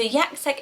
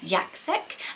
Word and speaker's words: Jacek: time I read it, it almost sounds like Jack, but with the yak and then the sek as well. So it's sort of the C is sort of pronounced twice, Jacek in the Polish.